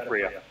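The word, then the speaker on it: FRIA: It's like you're getting fried, Freya. It's a Freya. that'd be a really bad name for it then, wouldn't it? No, and the Freyas are going to be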